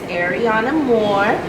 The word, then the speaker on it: Ariana Moore: My name is Ariana Moore. It's spelled Ariana space Moore.